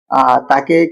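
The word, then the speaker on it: ت: উচ্চারণ হয় জীবের ডগা উপরের দাঁতের মাঝখান দিয়ে এই হরফটা একদম সফট সাউন্ড সাউন্ড একদমই পাতলা হবে একদমই সফট হবে তাকে কি বলা হয় তা এটা বার মতই বা নিচে একটা ডট আর তার উপরের দুইটা ডট মনে রাখবেন বা নিচে হচ্ছে ডট দেখছে একদম বার মতো কিন্তু তার উপরে দুইটা ডট তাকে কি বলে তা তা জীবের ডগা উপরের দাঁতের মা তা তা আপনিও পড়ুন এবার আমরা শিখবো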